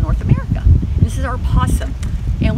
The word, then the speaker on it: opossum: This is our opossum, and we spell it with an O. I tell people you only say opossum during St. Patrick's Day. That's when we're all Irish.